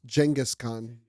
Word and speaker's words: Genghis Khan: you know funny enough people say his name incorrectly it's Genghis Khan yo this is also